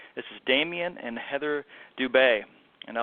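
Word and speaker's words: Dubé: We both have the accent AU over the E, so I know how to pronounce their last name.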